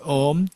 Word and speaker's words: Om: So in Buddhism, this Om, how this word syllable Om is constructed or is constituted, is constituted of 3 letters, A, U, Ma, 3 letters. And these 3 letters, they combine together, it becomes Om, not And you may think